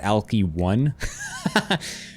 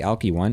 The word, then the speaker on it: Alcyone: Or is that Alky 1? He literally typed out Alky 1. Hecate is a Greek goddess. Yes, that's correct. It's actually pronounced Hecate? Really? Ugh. God, I hate Greek pronunciations of things. Alki 1. It's actually Alki 1.